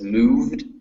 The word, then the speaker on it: moved: Okay, now with words like moved and scared, remember that those EDs, the E is not pronounced, so it's moved and scared. Moved, scared. And also keep watching out,